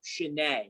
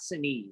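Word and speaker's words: Sinéad: shanay o'connor that's how you say her name shanae not sane i've been saying it wrong all my life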